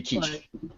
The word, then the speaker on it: quiche: I get that it's a foreign word. That's why it's pronounced the way it is. If you're just reading it, there's no way to know that it should be quiche.